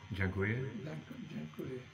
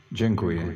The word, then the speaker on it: Dziękuję: Dziękuję. Dziękuję.